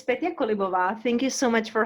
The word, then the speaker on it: Petia Kolibova: than i do thank you terry so it's petty colibo thank you so much for having me i